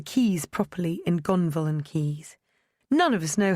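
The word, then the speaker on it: Caius: Only those in the know could pronounce the keys properly in Gonville and keys.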